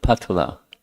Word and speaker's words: Patala: And then just below Attala is Patala, not Patala, that's at the very bottom, but it's Patala, spelled similarly but pronounced differently.